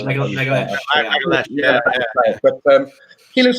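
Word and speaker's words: Magalhães: So Gabriel, I learned how to say his surname. It's Magalesh. Yeah, Magalesh.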